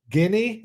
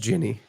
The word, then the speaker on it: Ginny: Guinea? Oh, Guinea. No, it's Ginny. It's pronounced Ginny. Guinea is Guinea, right?